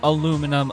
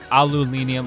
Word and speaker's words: aluminium: the alenium lid alenium aluminum uh aluminium whatever you guys want to pronounce that word i think australians is the only country that pronounces as aluminium so it is what